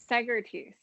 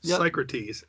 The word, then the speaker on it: Psycrotes: So it's Psycrotes. Yep. Yeah, Psycrotes. Yeah. Like Socrates.